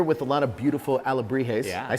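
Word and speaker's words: alebrijes: now we're here with a lot of beautiful a labrie haze I said it right this time yes yes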